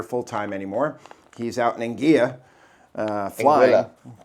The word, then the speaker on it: Anguilla: I was told by the natives that's how you pronounce it, Anguilla. Anguilla? Anguilla. Anguilla? With an accent. I'm so sorry, not Anguilla, Anguilla. Yeah. I just I just assumed the double L would be ya.